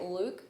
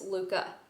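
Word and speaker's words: Lykke: little book of Luca you pronoun I've been pronouncing it Luke but it's Luca with like an a at the end um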